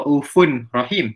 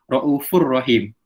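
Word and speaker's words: رَءُوفٌ رَحِيمٌ: Tak dibaca raufun rahim tapi dibaca raufur rahim. Fa tu masuk sikit pada huruf ra.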